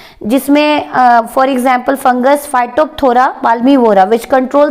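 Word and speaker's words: Phytophthora: तो एग्जाम्पल लिखें, सबसे पहला फाइटोप्थोरा पाल्मीवोरा, यहाँ पे एक फंगस का नाम लिखवाऊंगी मैं, फाइटोप्थोरा, पी साइलेंट है बेटा, फाइटोप्थोरा पाल्मीवोरा एक फंगस है।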